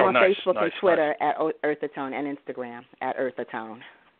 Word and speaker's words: Eartha Tone: that's spelled T-O, / Eartha Tone. Like Earth Tone, but it's Eartha Tone because my name is Eartha.